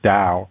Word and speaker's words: Tao: you it's called the Dow a paleo and I hope I'm pronouncing that right I think I remembered as Dow of paleo it's not you don't pronounce it like a tee but it's a dial